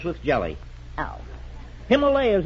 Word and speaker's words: Himalayas: Himalayas has gone out of style, too. It's Himalayas now.